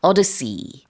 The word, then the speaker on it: odyssey: 자, 우리 오디세이라고도 부르는데 영어로는 odyssey 이렇게 발음을 하고요.